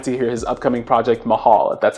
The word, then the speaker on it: Mahal: i'm really excited to hear his upcoming project mahal that's how it's pronounced sado would come my way it's fire